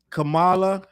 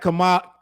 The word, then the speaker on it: Kamala: I'm going to say, I don't believe Remi knew that Kamala, I'm saying her name wrong. It's Kamala. It's Kamala, right?